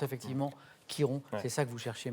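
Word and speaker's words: Chiron: sait qui rompt ch heroes and ça se prononce effectivement quiron c'est ça que vous cherchez manuel et quelle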